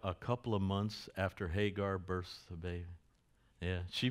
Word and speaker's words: Hagar: She Hagar is left with water and food for about two days in the desert and Abraham leaves her. She is praying and they pronounce her name Hoger.